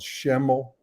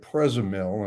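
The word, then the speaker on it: Przemyśl: in polish i get to a place called shemel which is pronounced p r i mean which is spelled p r z e m y l so i'm pronouncing it present mill and everybody's looking at me like i'm crazy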